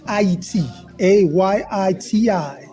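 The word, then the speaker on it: Ayiti: a Yi TI this is the correct way to say Haiti well we're getting education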